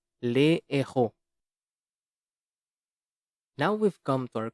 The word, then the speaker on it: les héros: There is no liaison, however, with the aspirate H. Les héros.